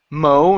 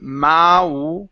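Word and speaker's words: mow: to this word here this is Mo instead of ma it's O to Mo to Mo the lawn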